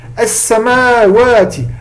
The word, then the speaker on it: السماوات: As-samawati. Alors le alif, généralement, on ne l'écrit pas, par contre, il est obligé d'être prononcé.